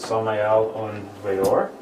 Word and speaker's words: Samael Aun Weor: If you're curious what the name means, it's Hebrew in origin, and that's how you pronounce it, Samael Aun Weor.